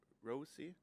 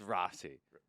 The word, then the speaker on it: Rossi: like a couple times people tell me like Rosie I don't like that at all say so it's Rossi say R like we say back home like rolling AR Rossi Rossi but um when I told was said